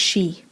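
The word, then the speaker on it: sìth: unusual spelling s-i-t-h yeah it's pronounced she and it's gaelic for fairy remember we talked about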